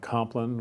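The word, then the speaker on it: Compline: the beginning we have complan which is it's spelled like comp line but spelled complan or say yeah great spot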